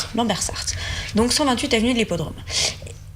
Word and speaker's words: Lambersart: Il est à Lambersart. Donc 128 avenue de l'Hippodrome. Lambersart, me dit-on en régie parce que je le prononce mal.